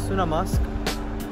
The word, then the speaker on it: Sunnamusk: video or ditch so I use Google transl Translate to get pronunciation of it might be wrong again so it's sunam musk and what this is